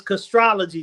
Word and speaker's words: Castrology: Castrology or it's castrology. Just astrology in the front. Castrology for life. Just astrology with the C in front.